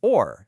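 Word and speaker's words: אור: It's spelled aleph, vav, yud, resh. Now, look at the Hebrew word for light. It's or, spelled aleph, vav, resh.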